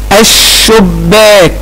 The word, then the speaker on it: الشباك: البحر، الشباك، هل نطقت اللام؟ طبعا لا، ما نطقتش اللام، وبعد اللام حرف مشدد، اذا هي لام ايه؟ احسنت يا بطل، هي لام شمسية.